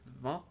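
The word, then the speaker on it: Vannes: And yeah, it's pronounced like Van, just French here.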